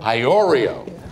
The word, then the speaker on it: Iorio: Pronounce it so I get it absolutely right. Iorio. Ham Iorio.